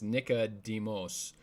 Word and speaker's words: Nicodemus: I think you'd pronounce it differently because it's Nicodemos, and Nike means victory, so it's the word Nike with demos, or the people.